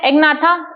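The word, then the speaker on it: Agnatha: ठीक है, एग्नाथा ए को साइलेंट मत रखिएगा, इसमें जी को साइलेंट रख दीजिएगा, नेथोस्टोमेटा।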